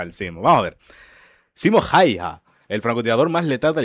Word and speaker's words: Simo Häyhä: Este no es otro más que Simo Häyhä, también pronunciado Simo Häyhä, pero más conocido por su escalofriante apodo, la Muerte Blanca.